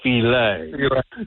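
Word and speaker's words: filé: You got to have your gumbo filet. Right. It's not I know it's spelled gumbo file, but it's gumbo filet.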